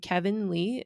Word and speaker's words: KVNLEE: And it's Ooh, by an artist named Kevin Lee. It's spelled KVNLEE, all one word.